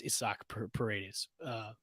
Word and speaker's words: Paredes: I've been saying his name. I'm saying Isaac. It's Isaac Paredes over this now because I've been saying it wrong.